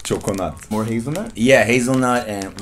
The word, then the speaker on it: Çokonat: Juggernaut? Not juggernaut. Choconut.